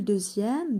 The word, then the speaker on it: deuxième: La lettre X se prononce Z dans 18 et dans les mots dérivés de 2, 6, 10. Exemple, deuxième, deuxièmement ou bien sixième, sixièmement, etc.